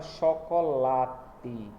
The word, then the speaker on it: chocolate: Eu tenho aí o exemplo da palavra chocolate, porque late, o lá aí é a sílaba que é pronunciada mais demorada, é a sílaba que é pronunciada com uma entonação de voz mais alta, né, mais forte também.